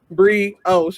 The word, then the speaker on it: brioche: Brioche. It's pronounced brioche. What did I call Brish? What did I was call like it? This Brish bun. Brish bun, brioche.